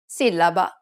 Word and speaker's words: sillaba: For example, sillaba. The accented A indicates that the second syllable needs to be stressed.